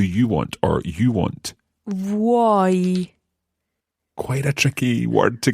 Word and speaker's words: vuoi: It's like if you think of it as VWOY in English. Okay. It's not a good idea, but that might help you think about how you would pronounce vuoi.